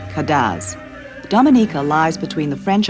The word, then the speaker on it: Cadence: the Island's French pwa the music is spelled Cadence and called kadz Dominica lies between the